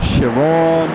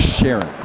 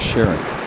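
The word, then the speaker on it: Charon: is spelled c-h-a-r-o-n cheryl right and i was pronouncing it chiron or shiron or something like that and then i saw a pronunciation guide of how it was spelled and it was sharon with uh with the with the the hyphen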